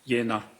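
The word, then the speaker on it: Jena: Yeah, it's pronounced Yenna.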